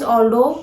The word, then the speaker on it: Aldo: Never pronounce this brand as Aldo.